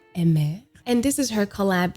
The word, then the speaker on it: Aimer: name correctly he said her name is pronounced in french so emme and this is her